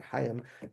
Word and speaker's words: Chaim: And I forgot I think his name was Professor Chaim, obviously Chaim, he pronounced it Chaim Maccabi.